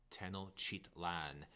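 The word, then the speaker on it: Tenochtitlan: to talk about is the capital city tennochitlan and i did say that one correctly i've been saying this one for a very long time on a regular basis so that is how you say it chitland and um there's a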